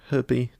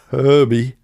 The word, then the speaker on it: Herbie: Well, it's Herbie. No, it's not a silent H at all, is it? It's very much Herbie.